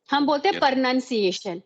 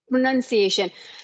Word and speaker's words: pronunciation: I talk about pronunciation it's Pro it is not per pronunciation it's Pro pronunciation so yes this is